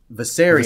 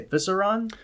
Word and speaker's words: Viserion: I always butcher the third one. Viserion. Viserion. There it is. What did I used to say? Viseron.